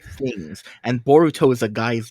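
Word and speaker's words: ボルト: It just happens to be that you pronounce it Boruto.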